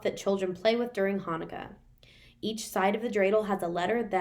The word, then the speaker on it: Hanukkah: two words right here they're still pronounced hanukkah even though it looks like it starts with a ch sound but those are just